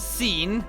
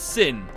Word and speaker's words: Sin: you can't speak English it's not seen it's sin it's not tedious it's